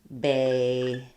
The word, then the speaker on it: bagel: So beagle has the E sound, like beagle, and bagel has the A sound, like bagel.